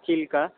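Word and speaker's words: ଚିଲିକା: কালিজাই island maintain by maintained by আইএনএস চিল্কা। নট চিল্কা, আমরা চিল্কা কথাটা ভুল বলি। এর চিলিকা। আদি শব্দের উচ্চারণ হচ্ছে চিলিকা।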